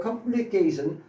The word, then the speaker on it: complicate: complicate은 동사니까 ace로 발음하자 이런 얘기입니다. a. 명사나 형용사일 때는 it으로 발음하는 거고요. it. 동사니까 kate, ace로 발음하는 거예요. at가. 자, 이 complete은 완성하다, 끝내다. 그 다음에 이 complicate은 복잡하게 하다.